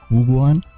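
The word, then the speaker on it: 武馆: Wuguan?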